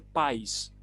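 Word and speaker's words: παῖς: la palabra muchacho aquí en griego se dice país no país con acento de ahí sino por acento en la país y la palabra país efectivamente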